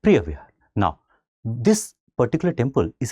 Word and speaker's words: Preah Vihear: Of course, there would be a particular local pronunciation also, but we are going with Preah Vihear.